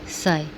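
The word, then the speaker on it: psi: यहाँ पर सिंबल नहीं हो रहा था इसलिए मैंने उसको हमने जो प्रोनाउंस करना है वो लिख दिया, साई।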